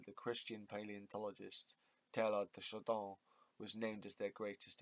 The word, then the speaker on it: Chardin: So it's spelled Chardin, but I swear that's French, so that's Chardin. Like garden, jardin, but Chardin.